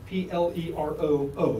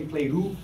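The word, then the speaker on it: πληρόω: Pleroo is like P-L-E-R-O-O. There's two O's. You could say pleroo, but they pronounce it pleroo. Not Plato, but pleroo.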